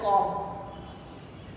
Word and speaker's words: comb: अब वैसे तो ये भी कॉम्ब है, लेकिन कॉम्ब बोलना गलत है, ये बोला जाता है कॉम्ब, ऐसे बोला जाता है कॉम्ब।